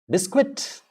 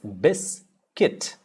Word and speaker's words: biscuit: has any silent words ah bisquit no it's bis kit bis kit biscuit repeat after me it's